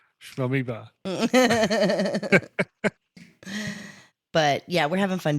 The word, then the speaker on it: Amoeba: It rhymes with Shmoeba. Amoeba.